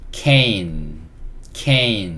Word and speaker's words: cane: 이거는 묵음이고요. C는 키읔이에요. 키읔. 그리고 ain. 그래서 이거는 cane 이렇게 읽을 수 있습니다.